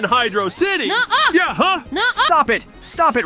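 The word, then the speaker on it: Hydrocity: being a dumbass nck just because the two words happen to be combined doesn't mean they aren't the same pronunciation we wouldn't call Green Hill Zone Greeno if there wasn't a space hey I'm not being dumb hydrosity sounds way better than Hydro City yeahuh stop it stop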